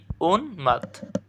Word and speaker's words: উন্মাদ: থেমে যাবা ওখানে হসন্ত এরপরে উন্মাদ এর সঠিক উচ্চারণ কি উন্মাত বুঝছো আমাদের ময়মনসিং বোর্ড